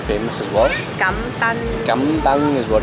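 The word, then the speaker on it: cơm tấm: Cam tang is what it's called.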